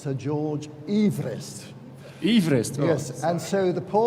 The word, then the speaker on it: Everest: And his name was pronounced Sir George Everest.